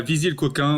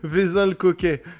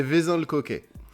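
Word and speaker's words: Vezin-le-Coquet: C'est à viser le coquin ou un truc comme ça. Ça dit quelque chose peut-être mal prononcé je pense. Vin le coquet et pas V coquin. Je vais le garder ça aussi. Ça va ça va faire marrer les renetis j'imagine. OK c'est vezin le cquet ça.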